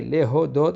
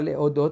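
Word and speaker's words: להודות: Ulecha Na'e Lehodot, c'est-à-dire il faut bien prononcer le He, Lehodot, et pas Lehodot, parce que sinon c'est deux Aleph.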